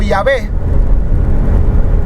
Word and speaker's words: Yahweh: La más aceptable es Yahweh, porque los samaritanos también eran parte de Israel en algún momento, eran parte de las 10 tribus del norte. Entonces ellos conservan esa pronunciación. Yahweh era como Yahvé, y de ahí ha